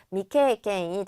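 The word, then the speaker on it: 未経験: 미경험이라고 해서 아닐 미자를 붙여주면 되죠. 미케이케인이 되겠고 정답은 3번이 되겠습니다.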